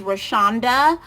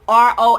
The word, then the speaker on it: Roshanda: My name is Roshanda. It's Roshanda. When I go to different places and they ask my name, I spell it for them because I do not like that W in my name. They always try to Roshawnda, and I hate that W.